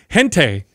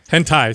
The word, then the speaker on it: hentai: top one here yeah it's kind of interesting gente gente I think I'm pronouncing it right am i saying it wrong hentai sorry why does Doug know this Japanese there's